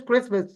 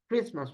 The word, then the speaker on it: Christmas: Christmas here say Christmas Christmas CH H pronounce k Christmas we say Christmas we say happy Christmas